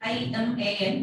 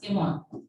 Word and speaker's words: Iman: Actually, we are spelling actually I-M-A-N, and she told like, don't pronounce it Iman, because actually in our area, A is not there, everything is O. So I-M-A-N also you have to pronounce Imon.